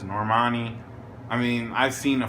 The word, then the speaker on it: Normani: harmony and said um I used to call this girl Norma Nia I don't know that's how you say it but Nicki says normanni I mean I've seen a few people say normani so I guess that's